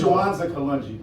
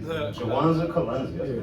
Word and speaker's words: Jawanza Kalungi: It's Jawanza Kalungi, but easy. Jawanza Kalunzi. Wow, thank you, man. You Yeah. said it right.